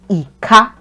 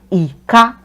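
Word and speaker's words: ìka: Ika, it means finger. Ika, ika, ika, ika, ika. So the first syllable sounds like do, I. It also has the do tone mark on it.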